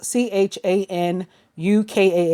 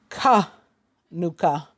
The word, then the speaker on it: Hanukkah: spelled Hanukkah with an H for this both CH a n UK a H or H a in UK ka H